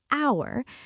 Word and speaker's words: hour: The H is silent. You say hour, that is a vowel sound, so an.